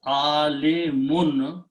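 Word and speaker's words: عالم: If I put alif in between and pronounce alimun, when we stop, we say alim.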